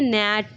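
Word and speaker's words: gnat: इन the word जीनेट जीनेट को हम लोग क्या पढ़ते हैं नेट नेट नेट पढ़ते हैं ना नेट पढ़ते हैं इसलिए जी हम लोग का क्या हो जाता है साइलेंट हो जाता है द स्ट्रक्चरल स्ट्रक्चर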